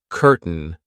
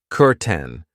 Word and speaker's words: curtain: I know it looks like curtain but we pronounce it curten.